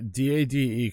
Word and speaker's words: Dade: I don't know, D-A-D-E could be pronounced daddy, so I'm not sure about that. It's Dade. I keep telling you it's Dade.